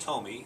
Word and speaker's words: Tomi: It's pronounced Tomi, but it's spelled T-O-M-I, and that's all right.